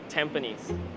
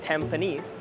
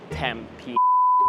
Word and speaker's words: Tampines: Second station, Tampines. Be very careful when pronouncing this station because it can get very disastrous very quickly. It's Tampines, but I've also heard Tampines and Tampi.